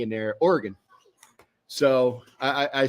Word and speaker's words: Oregon: See, it's not Oregon, it's Oregon. Just kind of like, well, what organ in his body was you taking out?